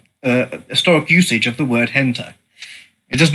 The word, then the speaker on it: hentai: And it is pronounced hentai, just to be clear.